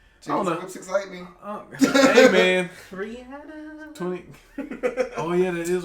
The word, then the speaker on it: Rihanna: say No, I'm saying her name is pronounced Rihanna. That's why I said it. Okay, whatever. I'm correct. Everybody pronounces it Rihanna. Rihanna. Yeah. But she said it's Rihanna.